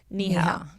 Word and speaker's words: Neha: and parenthesis she put it's pronounced knee health so it's any - HDL so Neha that's don't worry butchering